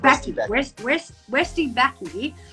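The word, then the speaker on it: Westye Bakke: Is it Westy Backy? Like, who's... Backy, that's it. Westy Backy, who is a creator.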